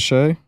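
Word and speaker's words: Shai: I'm sorry, Shy. It's actually Shy. My apologies. Oh, I just heard about this I the thought it other was day. Shea. Is it Shay?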